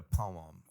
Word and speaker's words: poem: You had to come in and read a poem. The parents did. So I came in and I read Thank a you for poem. making it 2 syllables, by the way.